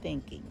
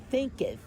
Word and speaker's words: Thinketh: As a Man Thinking. Thinketh.